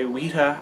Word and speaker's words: Weta: Paul McGann had just debuted the Dark Eyes sonic screwdriver for himself, made for him by Weta, I think that's how it's pronounced, W-E-T-A, Weta Workshops, so they were a prop-making company.